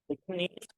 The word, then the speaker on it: gneiss: नीस शिस्ट and granite is found here.